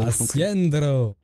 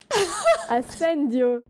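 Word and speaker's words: Ascendio: C'est quoi cette prononciation? Asciendo. Asciendo. Arrête de me pousser, Tita. Voilà, monsieur. Allez, vous pouvez vous mettre avec les autres. Madame Nag. Knight, s'il vous plaît. Asendio. Ah, c'est très bien.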